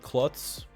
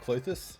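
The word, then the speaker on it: Klothys: And playing Klotz, which is pretty awesome. Or Clothis. I always get the name wrong. I believe it's Clothis.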